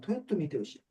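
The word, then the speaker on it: 豊臣秀吉: 우리 한자로는 풍신수길이라 쓰고 이걸 일본어 발음으로 하면 토요토미 히데요시.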